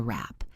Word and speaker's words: wrap: Listen to the W sound, which is silent in rap. It sounds like rap. That's a wrap.